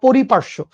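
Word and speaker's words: পরিপার্শ্ব: পারিপাষ্যিক ব্যবস্থা বলা হয় পরিপার্শ্য মানে সহজ সঠিক উচ্চারণটা পরিপার্শ্য ঠিক আছে আর অন্যভাবে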